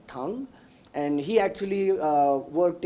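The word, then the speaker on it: Thang: Tang uh spelling is T h a n g but pronounced Dr. tongue and he actually uh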